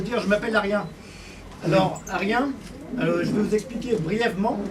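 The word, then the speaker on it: Aryen: Alors, Arien, je vais vous expliquer brièvement, ça s'écrit A comme Albert, R comme Robert, Y comme Yves, E et N.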